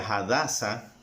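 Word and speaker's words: הדסה: ejemplo si tú dices el nombre de Esther que es un nombre en español pero que en hebreo se pronuncia hadasa ese nombre en hebreo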